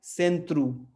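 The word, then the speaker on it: centro: अक्षर ओ पे, हाँ, ये शब्द ओ पे खत्म हो रहा है तो ये क्या हो जाएगा, उ। तो लेकिन हम पहले पहले वाले सिलेबल को क्या पढ़ेंगे, से, सेंत्रु, है ना।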